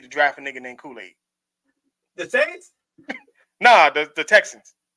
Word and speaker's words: Kool-Aid: And it's spelled like the fucking Kool-Aid. It's Kool-Aid. Like it is literally Kool-Aid.